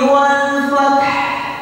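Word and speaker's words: الْفَتْح: nasullahi walfat walfat walfath ada ahnya ya Hnya Itu kelihatan Wal Fath ah asah Nah jadi Hnya kita kelihatan Jadi kalau ada yang baca itu salah Hnya belum kedengaran I kanak salah oke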